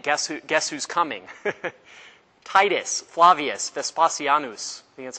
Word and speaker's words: Titus Flavius Vespasianus: you don't repent guess who guess who's coming titus flavius vespasianus that's how you say his name the roman